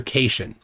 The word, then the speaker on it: cation: corrected him that cat c a t i o n is pronounced cat ion and that it's a